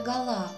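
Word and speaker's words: Гала: свое имя из юности просила называть себя гола с ударением на втором слоге находясь на лечении в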